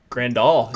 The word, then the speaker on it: Grandal: would you go if I presume I'm DK grande all yeah you said it right there he's on the right track I love Grandal yeah I think it's grunt up cap Richards